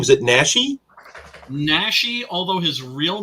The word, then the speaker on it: Naschy: Naschy, although his real name was Jacinto Molina.